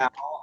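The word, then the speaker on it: Taal: Tao. I think that's the right way to say it. T-A-A-L. It's the Tao right.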